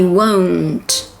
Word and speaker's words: won't: The difference between the contracted form will not, won't, and the verb to want is that in will not, you need to round your lips. Whoa, whoa, won't. I won't do it.